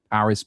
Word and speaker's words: Paris: Some of the chess in the French called Paris par. Yeah, that's actually how we pronounce it. We don't pronounce the S, dude.